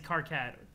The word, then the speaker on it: Karkat: It seems like the general consensus is Karkat. Okay, gotcha. I can say it however, that's fine, but Karkat's fine. Karkat, like, kind of can kill the flow sometimes. It's a bit of a harder syllable.